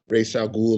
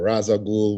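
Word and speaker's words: Ra's al Ghul: like fighting guys like race al Ghul or Raza Gul whatever you know people pronounce it differently he's actually my favorite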